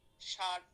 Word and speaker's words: ষাঁড়: তাহলে উচ্চারণটা কি দিয়ে হবে বলো তো? তালব্য স দিয়ে হবে, ষাঁড়।